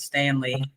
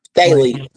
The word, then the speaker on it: Staley: and Desiree was watching coach Stanley look I was saying her name wrong Staley Staley Coach Staley